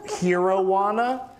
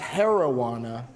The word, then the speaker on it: Heroana: tonight as well that I called Hero-wana. But turns out it's pronounced heroana, because it's like the heroine of weed.